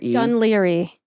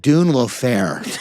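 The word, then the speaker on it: Dún Laoghaire: Oh, and Dunleary. South side of Dublin. It's the DUNLAOGHAIRE. Dunleary. Yes. How did I say it? You said Dune Fair.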